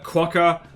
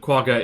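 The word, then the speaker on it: quagga: centto sandwich and apparently the English word quaga is pronounced like that I was corrected by my dad of all people if you say quaca it's spelled different little tuni shiny muscle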